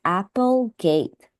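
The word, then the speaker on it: Applegate: the author since uh here it's spelled a p e so I think this is pronounced as Apple gate so just be careful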